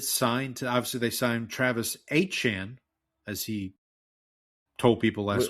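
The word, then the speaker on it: Étienne: It's like a Cajun French pronunciation of that. Absolutely. Because if you were in French, it would be Etienne, which is close. Yeah, Etienne.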